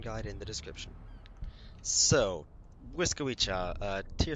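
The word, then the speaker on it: Błyskawica: emergency content in the Wisa yes that is how you pronounce it I'll put a link to a pronunciation guide in the description so Wisa uh tier 7 Destroyer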